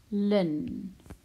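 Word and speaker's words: ln: so X is 0.23 right so Lin you pronounce it Lynne but you just write the L in the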